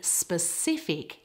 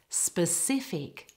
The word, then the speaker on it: specific: the word specify but in specific it's on the second syllable specific now I included the